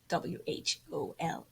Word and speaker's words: whole: fall into the hole, even though it's spelled like whole, W-H-O-L-E, whole.